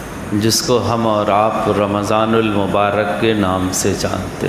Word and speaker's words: رمضان: نام سے جانتے ہیں۔ بعض لوگ رمضان کہتے ہیں، میم کے ساکن کے ساتھ رمضان، یہ غلط ہے۔ قرآن میں آیا شہر رمضان رمضان الذی، میم کے زبر کے ساتھ، تو صحیح تلفظ اس کا رمضان ہے، رمضان غلط تلفظ ہے۔ رمضان کے معنی ہے